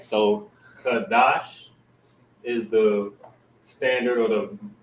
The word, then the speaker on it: Qadash: two together, making it you wouldn't pronounce it Qadasha, you would pronounce it Qadash, and drop that ah sound, because sha phonetically is sha with that vowel sound, but when you pronounce it together, you'll drop that ah at the end.